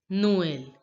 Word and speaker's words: Noël: Noel. Because of this accent, the pronunciation is like this, and we pronounce this word as Noel.